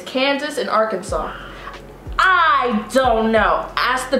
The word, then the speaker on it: Arkansas: what is that yeah i was gonna say all kinds but i know it's arkansas oh that's the one they